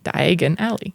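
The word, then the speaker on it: Diagon Alley: Keeper of the keys and diagonale yes which sounds like diagonally but Di Aly wow I was definitely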